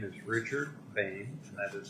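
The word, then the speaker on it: Boehne: the record please certainly my name is Richard Payne and that is spelled b-o-e-h-n-e okay and I'd like to just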